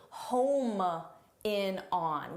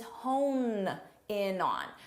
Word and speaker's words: hone in on: The expression is hone in on. So, make sure you get that both in pronunciation, hone, and in spelling as well.